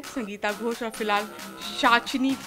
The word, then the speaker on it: Pishachini: मुझे तो आप जानते ही हैं, संगीता घोष, और फिलहाल शाचनी पी साइलेंट दिव्य दृष्टि पर।